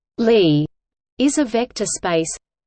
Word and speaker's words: Lie: In mathematics, a Lie algebra, pronounced Lie, is a vector space